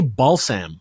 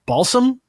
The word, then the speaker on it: balsam: musk and Amber Woods how do you say balam Balsam Balsam Balsam balam yeah uh but here's a